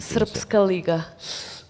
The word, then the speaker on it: Srpska Liga: Srpska Liga.